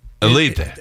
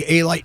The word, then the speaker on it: Alite: Actually, it's pronounced in Albania. It's Alite. Alite. And here in America, they used to say Alite in the neighborhood, and it really is Elite.